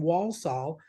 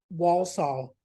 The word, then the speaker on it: Walsall: poor girl was from Walsall near Birmingham and Walsall and I just couldn't say it right you know spell it w-a-l-s-a-l-l oh it feels like it's almost like also when I asked her